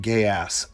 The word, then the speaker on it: Geass: I asked so many people at that convention. I was like, "How do you say it?" And they're like, "Gay ass, gay ass." And I said, "Okay, here's Code Gay ass."